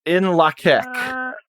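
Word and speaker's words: In Lak'ech: It's In Lakek. What? It's a Mayan word.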